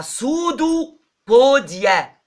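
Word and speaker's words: pseudopodia: سويلنج، تنتفخ البليتلتس وتطلع سودو بوديا، اقدام كاذبة. يعني هي هتنتفخ قوي بكل السيتوبلازم اللي جواها وتطلع سودو، وقلنا سودو دي يعني كاذب، حتى البي لا تنطق، تطلع سودو بوديا اهي.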